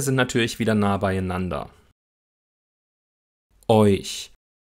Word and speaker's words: euch: Euch. Auch hier sind die Lippen beim Ich-Laut noch leicht gerundet, wegen des vorangegangenen Eu-Diphthongs.